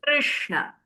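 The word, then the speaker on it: कृष्ण: So you try to say the ra and try and pull your tongue back and avoid the touch as much as you can. So r, r, Krishna. Okay? Krishna. Prakriti. Not Prakriti. prakriti or prakruti, but prakriti.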